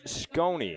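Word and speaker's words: Sconi: Is it Scony? Oh. S-C-O-N-I. Gets that a ground ball, and it leaks out to left field for a base hit. That's number 21, Matt Marsh. Correction on my pronunciation, Scony.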